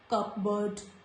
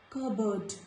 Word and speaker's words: cupboard: There are some additional words which are very common, and letter P is silent in these words also, like cupboard, not cupboard, cupboard.